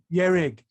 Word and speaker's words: Ye-Rig: Ye-Rig, Ye-Rig. It's Ye as in Yeshe and Rig as in Rigpa, Ye-Rig.